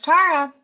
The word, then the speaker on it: Tarra: when I was born my parents wanted my name to be pronounced Tara but only spelled it t-a-r-a so on my original birth certificate it's t-a-r-a and then my father got really pissed off that people were calling me Tara so he went down and changed my name when I was about three months old to t-a-r-r-a uh so people would